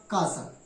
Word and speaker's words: castle: इसी प्रकार CASTLE, इसमें शब्द के अंत में TLE एक साथ है, इसलिए TLE का उच्चारण नहीं होगा और क्या पढ़ा जाएगा? कासल।